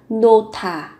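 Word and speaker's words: 놓다: Trong tiếng Hàn sẽ là nota. Nota. Nota. Đặt. Các bạn cần chú ý về cách nối âm, phụ âm hờ và tớ kết hợp với nhau, các bạn phát âm thành nota, nota.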